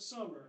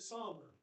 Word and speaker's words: Summer: We went to high school and grade school with Clint Summer, and you let all these people pronounce it Sommer.